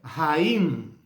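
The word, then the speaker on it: חיים: A palavra hebraica mais usada para a vida é Haim. Haim. Escreve com H no começo para marcar esse som de R, como se fala no inglês, né? A-Y-I-M.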